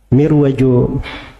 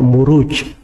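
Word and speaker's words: مروج: kan setelahnya wadin aljauhar itu kalau di bahasa Arab gak dibaca mirwaj tapi dibaca muruj jamak dari marjun marajamuju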